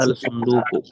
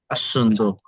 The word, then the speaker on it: الصندوق: আল সুন্দুকু। না, এইখানে এইখানে আলিফ লামটা উচ্চারণ হবে না। আর সুন্দুকু। الصندوق আসন্দুক, আসন্দুক।